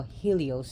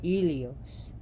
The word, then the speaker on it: Helios: Body at night where her brother ilios or what we call Helios here but ilios in Greece is the celestial body